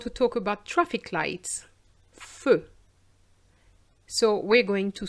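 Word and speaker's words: feux: But it doesn't affect the pronunciation. Aller jusqu'au feu.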